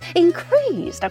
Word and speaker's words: increase: 있는 거 increase increase increase라고 생각해 주세요 명사는 굉장히 전 굉장히 기분이 좋잖아요 갑자기 기분이 좋죠 명사는 앞에다 강사를 듭니다 increase 하죠 앞에 강세를 두고 있어요 increase increase 쓰고 있습니다